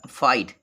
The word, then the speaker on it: fight: ये फाइट, इसको पढ़ेंगे फाइट, फाइट मीन्स होता है लड़ना, फाइट। अब GH साइलेंट हो घ होता है, इसका मतलब खत्म हो जाता है, फाइट इसको पढ़ेंगे।